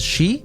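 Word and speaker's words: 四: other countries but because when you read read the word for in kanji it is pronounced as she which is also the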